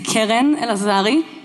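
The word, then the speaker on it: Keren Elazari: True Believers out of you my name is Karen elazari that is how you pronounce it for those of you who find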